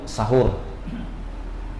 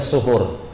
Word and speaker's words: suhur: dikenal dengan waktu sahur, atau yang paling tepat dibaca suhur. Ya, walaupun di Indonesia dikenalnya sudah cukup terkenal dibilang sahur, gitu ya. Walaupun yang paling tepat dibaca suhur. Ini secara bahasa saja, cara bacanya.